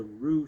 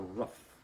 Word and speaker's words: Rugh: But perhaps it was an effort to keep pronunciation as rather than rock or rush or rough. And this sorry just to clarify maybe everyone else understands this is changing the name from ru to r u gh.